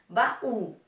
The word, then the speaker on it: baú: Sílaba mais forte qual é? O ba ou é o U? Ba-u, ba-u, ba-u. Ó, ó. O U é o mais forte.